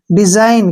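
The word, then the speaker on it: design: जी ठीक है ना एन से पहले जी आया तो हम जी को नहीं पढ़ेंगे डी से हो गया डी ठीक है ना एस आई यानी कि जाई और एन से न डिजाइन क्या पढ़ेंगे इसको डिजाइन ठीक है ना जी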